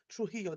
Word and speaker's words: Trujillo: He worked for a decade in Trujillo, thank you, Trujillo, that J is silent, Trujillo, Peru, and was later appointed Bishop of Chicaleo, another Peruvian city, where he served from 2014 to 2023.